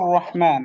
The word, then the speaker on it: الرحيم: এই যে রহিম, রহিম, এখানে একটা বিষয় খেয়াল করেন যে আর রহমান, এই যে আর রহ, এখানে হাটা মোটামুটি উচ্চারণ হচ্ছে, কিন্তু এই রহিমে এসে এখানে হায়া